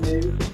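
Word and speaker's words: MØ: That Mo girl, I think you pronounce it Moo.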